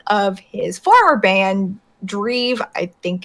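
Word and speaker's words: Drive: of his former band, Dreve. I think it's how it's pronounced. It's DREVE. Rhymes with Steve, I'm imagining.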